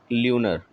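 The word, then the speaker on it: lunar: ठीक, फिर अगला है हमारा शब्द आज का 92nd, ल्यूनर या ल्यूनार, जो भी आप पढ़ सकते हो, दोनों प्रोनाउंसिएशन होता है।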